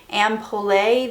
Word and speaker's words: Ampoule: I'm having the best luck with this video, but anyways, I'm taking the shade Ampoule. This is in French.